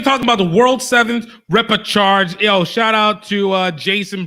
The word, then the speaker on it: repechage: Repechage, like charge as in you charge into a fight.